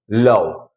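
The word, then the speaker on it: love: मैं आपको बता दूं, जब किसी वर्ड में ओ के बाद एक कॉन्सोनेंट को छोड़कर ई आता है तो ओ को हम अ भी पढ़ते हैं और ई जो है वो साइलेंट रहेगा, ओके।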